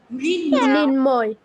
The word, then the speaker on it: মৃন্ময়: মৃন নয় উচ্চারণ করি নাকি ময় উচ্চারণ করি? কোনটা করি? মৃন মৃন্ময়। মৃন ময় করে, মানে মৃন নয়।